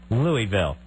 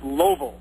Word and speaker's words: Louisville: How do you pronounce the name for the largest city in the state of Kentucky? Louisville. Louisville. Absolutely though, right? But every person you meet from there will swear that you were wrong and it's pronounced Loville.